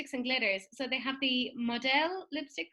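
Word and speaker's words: Modelle: so they have the modell lipstick which is spelled m-o-d-e-l-l-e like a french sort of thing it's a new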